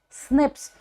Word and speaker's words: SNP: were pronounced as SNS but this single nucleotide polymorphism it is pronounced as Snips so do not get